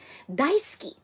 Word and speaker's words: Daisuke: so that is Daisuke daisuki you see wait this is guys dah Itsuki this is that is spelled as Daisuke but this the the way they you know pronounce it guys is silent you okay so daisuki I